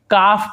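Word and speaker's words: calf: उसी प्रकार से काफ पढ़ेंगे, काल्फ नहीं पढ़ेंगे, काफ यानी गाय का बछड़ा।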